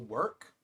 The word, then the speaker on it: WERC: Work is the preferred term pronunciation. That's that's the preferred way to say it.